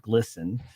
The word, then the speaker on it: GLSEN: So, you know, I surprised a lot of people this week when I released the association between GLSEN, pronounced glisten, and their association with Lego and Target and Kohl's and Bud Light and so many of these other places.